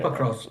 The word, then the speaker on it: Pokrovsk: Russia on Pokrovsk, the logistic route, the important Pokrovsk region? I don't know if I'm pronouncing it correctly. Yeah, Pokrovsk.